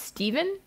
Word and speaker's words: Stephen: Actually, Mark, I believe it's pronounced Steven.